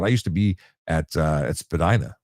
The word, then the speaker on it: Spadina: But I used to be at Spadina or Spadina, which is apparently the correct pronunciation, and I'd be there controlling the three-stage light.